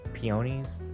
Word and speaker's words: peonies: I'm saying it wrong it's not it's not ponies it's peonies or whatever pies are considered to